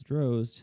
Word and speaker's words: Drozd: say your last name droid is the jersey droid nope it's drosed and i always say it rhymes with hosed anyway i really dig